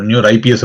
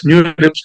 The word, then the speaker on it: NeurIPS: நியூர் லிப்ஸா நியூ ரிப்ஸான்னு தெரியல, பட் ரெண்டு விதமான சொல்லிட்டு இருக்காங்க. ஸோ நியூர் ஐபிஎஸ் அப்படின்னு நியூ ரிப்ஸ் தான், இப்ஸ் தான், லிப்ல இப்ஸ் தான்.